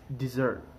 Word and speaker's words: dessert: word is pronounced desert while this word is pronounced dessert can you hear the difference now let me